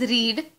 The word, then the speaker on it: read: Now this is pronounced as read, whereas this is pronounced as red, as in the color red.